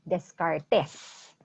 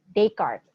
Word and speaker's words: Descartes: Most people, if they don't know the origin of the word, they might pronounce it Descartes, right? Very Filipino pronunciation, Descartes, no? But he's French, so Descartes is the proper pronunciation of his name.